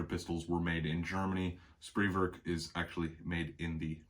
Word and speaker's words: Spreewerk: material here so again spreework or spray work you hear people say it both ways but spree work would be the more correct german pronunciation of the word factory established in czechoslovakia uh